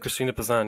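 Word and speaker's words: Christine de Pizan: deep assange is that how you say it christina pisan yes uh what what who was she and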